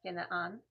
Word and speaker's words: Canaan: um sent them to his homeland because he had traveled Abraham had traveled down into the land of Canaan uh which is pronounced ginan and uh but he didn't want to get a local for his for his um son to marry.